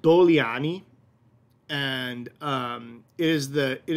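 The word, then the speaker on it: Dogliani: bottom left um and that the g is soft so when we see this see this on the label it says it looks like dougliani it's it's soft g so it's doliani and doliani is exclusively when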